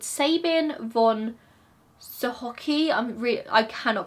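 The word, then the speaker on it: Sochocky: was founded by a man called Sabin von Sohoki. I cannot pronounce this word. I'm just gonna get it up on here so you guys can hear how it should be pronounced. Sohovsky.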